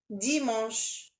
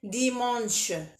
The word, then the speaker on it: dimanche: Dimanche, on peut pas prononcer le N. On peut pas dire dimanche. Dimanche, non, c'est faux.